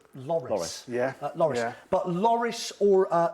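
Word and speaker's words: Lloris: uh outright now you mentioned uh lorice lovely pronunciation I always plump for Loris Loris but Loris or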